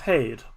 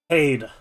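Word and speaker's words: Haeth: of hade as h-a-e-t-h unfortunately us irish people at least me i know again uh have some difficulty pronouncing th as you may have noticed so uh paid that's how i'm gonna be saying it it is not my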